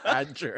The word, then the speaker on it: Bajjer: But it's spelled like BAJJER. Yeah. Oh. Badger.